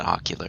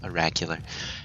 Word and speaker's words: Oracular: Not Ocular, it's Oracular. Anyways, so we're gonna get started.